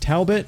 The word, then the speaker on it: Talbot: of ten i think i said taobao grimes earlier but i believe it's pronounced talbot and this is not